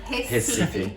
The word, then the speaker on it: Recife: Recife.